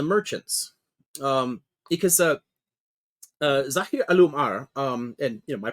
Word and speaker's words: Al-Umar: notables and the merchants um because uh zah alumar um and you know my pronunciation is always terrible compared to yours but